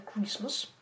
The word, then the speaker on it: Christmas: Рождество — это Christmas. Здесь мы не произносим букву T в слове Christmas. Она не читается, она не произносится.